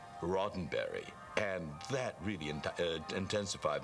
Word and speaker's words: Roddenberry: I said uh I'm here to see Mr Rosenberry s what is it where's on what she said uh I'm sorry that it's pronounced rotenberry and that really in intensified my nervousness because